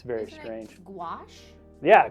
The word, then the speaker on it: gouache: uh galfs it looks like it should be pronounced gauche but it's the the pronunciation is like Garrosh there's a w in it it's very strange gouache yeah gouache that's it CNN's got it gouaches um which